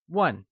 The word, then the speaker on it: 问: 请 is pronounced with a falling, rising tone, and starts with a ch sound, whereas 问 is pronounced in the falling tone.